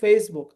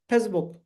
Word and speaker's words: Facebook: होगा getting my point जैसे first word is Facebook हम अगर ऐसे बोलेंगे Facebook हो गया Facebook नहीं Facebook देखो सुनने में कितना अच्छा लग रहा है Facebook थर्ड वर्ड में सीए